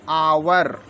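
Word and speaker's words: hour: देख लेते हैं हम एच ओ यू आर इसको हम पढ़ते आवर एच साइलेंट है एच ओ एनई एसटी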